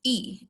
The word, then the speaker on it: y: an addition of minutes y is pronounced e in spanish son la nuebe finally